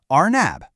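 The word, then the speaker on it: أرنب: The word is arnab.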